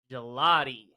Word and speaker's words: Gigliotti: Can you please pronounce your last name for me? Gigliotti. Gelati.